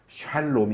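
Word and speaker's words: שלום: 에다가 야를 차야 되요 그래야 샬롬 이 정확한 발음이 게 # 식 아름 이것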